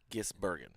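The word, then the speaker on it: Van Gisbergen: It's Van Ginsbergen. Gisbergen. Gisbergen. Terry always called him Van Ginsberg. And it's just now hit me that Terry did not say his name correctly.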